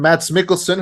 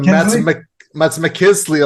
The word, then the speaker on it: Mads Mikkelsen: of the fact that you said his name wrong on the video review. You called him Mads McKinsley or something.